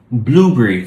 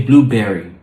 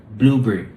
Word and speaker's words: blueberry: Blueberry. Thank you. Blueberry. Thank you. We don't want to say blueberry. So we're not stressing the second word. We're stressing the first. Blueberry.